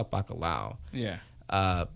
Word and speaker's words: bacalhau: They call it bacalhau. Okay. But I remember I'm Puerto Rican, we call it bacalhau. Yeah. But they call it bacalhau. I'm like, you're saying it wrong.